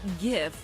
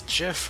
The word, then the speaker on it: GIF: understand that the word gif is pronounced with a hard G like the word graphic failure to do so